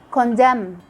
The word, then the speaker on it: condemn: Condemn, which means to refuse someone or something for moral reasons.